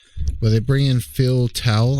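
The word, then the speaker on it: Towle: they bring in phil towel i think his last name's pronounced tell but uh he's a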